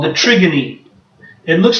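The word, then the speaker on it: trigone: But that thing is called the trigony. It looks like the word trigon, but it's a Greek word. It's pronounced trigony, kind of like the Greek play Antigone.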